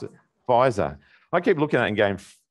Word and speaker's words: Pfizer: an 84-year-old get the first jab of the Frizer? Is that how you pronounce it? Pfizer.